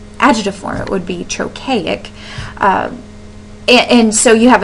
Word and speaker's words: trochaic: by an unstressed syllable chokey is how you say that and that's how the emphasis would be too um whether as whereas